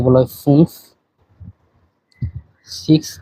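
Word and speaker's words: fünf: পাঁচের এখানে উমলাউট আছে আচ্ছা পাঁচ কে বলা হয় ফুংসলাউট আছে এখানে এরপরে ছয় কে বলা হয় জেক্স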